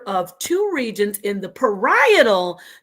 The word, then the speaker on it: parietal: two regions in the parietal, not the parasocial, Juju and Professor, how you're pronouncing it, your parietal, the parishioner. It's the parietal lobe. Two regions in the parietal lobe, to be exact, that receive and process somatosensory stimuli.